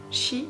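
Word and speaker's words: 四: Cette superstition est due à sa prononciation, shi, qui veut aussi dire mort en japonais. C'est pour ça que les japonais ont tendance à utiliser l'autre prononciation, yon.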